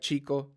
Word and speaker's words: chica: is an example or think of an English word cheating cheetah Chi Chi so the sound